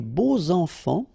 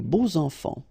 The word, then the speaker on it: beaux enfants: And here it's quite interesting because even if you've got this X, well, phonetically it will be like Z, so like if it would be an S, okay? Les beaux enfants, all right?